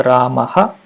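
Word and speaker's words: रामः: of the word, and the pronunciation of that Visarga generally will be a repeated pronunciation of the previous vowel. So when I say Rama, it actually ends with a vowel. The same will be repeated with ha.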